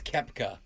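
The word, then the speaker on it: Koepka: It's Brooks Kepka. Just so you know, it's spelled Copka.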